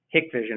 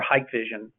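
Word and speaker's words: Hikvision: business with dawa or hick Vision or hike Vision depending on who you are and how you like to pronounce it however uh Huawei which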